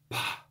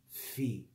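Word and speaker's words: φ: lesson I explained that the true pronunciation of this letter is actually P. Okay? But normally, just for laziness sake, we say fi. We make it simpler for the sake of ease. But the correct pronunciation is p.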